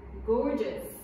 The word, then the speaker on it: gorgeous: They both look gorgeous. Okay, so gorgeous. Here, this word actually has the two G sounds. The soft G, J, and the hard G, G. Gorgeous.